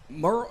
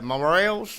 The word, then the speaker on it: morels: hunt it similar to mural? Is that how you say mural? The mushrooms? Yeah, it's about like mushroom. How do you say that? Mural. The morelss. Morels. Yeah. Yeah.